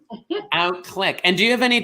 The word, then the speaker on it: Outclique: Outclique, just like a mouse or a camera. Outclique.